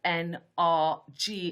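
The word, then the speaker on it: NRJ: g7 becomes star bullseye n r g in french that's pronounced nrg the j is a g and in france it's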